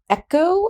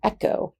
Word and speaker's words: ἔχω: of i have so echo echo and if you actually pronounce this correctly it's like the sound of loch in the scottish loch lo ch so echo